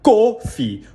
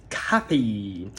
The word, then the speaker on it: coffee: Atenção, eu sei que na escrita você vê a letra O e você quer falar coffee ou coffee, mas a pronúncia não é nem com O nem com O. A pronúncia é com A. O A da palavra father. É um A e não um O, nem um O.